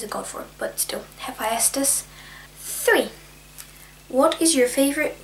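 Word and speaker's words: Hephaestus: one that I recently just learned how to pronounce is hephestus which is a Greek god of what's this like machinery and stuff I don't know what he specifically is a God for but still hephestus three what is your favorite what is a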